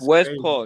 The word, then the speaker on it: Westphal: It's Westphal.